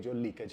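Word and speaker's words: jewel: इसको हम लोग ज्वेलरी बोलते हैं भारत में, लेकिन ये ज्वेलरी नहीं, ये ज्वेलरी है। ये जो दूसरा वर्ड आपकी स्क्रीन पर है, जूल और नॉट ज्वेल।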